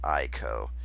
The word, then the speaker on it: Aiko: The proper Japanese way to say my name is Aiko.